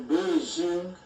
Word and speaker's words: Beijing: Le nom de la capitale, anciennement Pékin, est Beijing, prononcé Pékin.